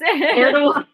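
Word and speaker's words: Erdoğan: This question, you might have to help me with pronunciations. Are there any concerns with Erdogan, yes. Erdogan shutting down and or limiting NATO access through the Bosphorus?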